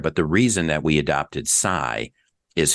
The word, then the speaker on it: Cy: The reason that we adopted sai is phonetically the c aj is pronounced like. So everybody for just you know purpose of ease would say we're just going to call you or mic sai.